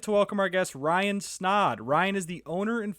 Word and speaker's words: Snaadt: my name is Ryan snod at rhymes with OD it's kind of my